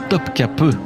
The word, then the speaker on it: Topkapı: Mais avant, je vous emmène dans un autre lieu incroyable, le palais de Topkapi, qui se prononce d'ailleurs Topkapı en turc.